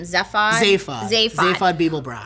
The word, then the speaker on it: Zaphod Beeblebrox: Like when it's so suspenseful when they're meeting, how do you pronounce his name? Zaphod Beeblebrox.